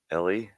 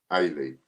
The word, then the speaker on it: Ailey: Ellie? Is that Ellie? Ailey. Yeah. You have to think. You have to think in your mind. Pronounce it Aylee.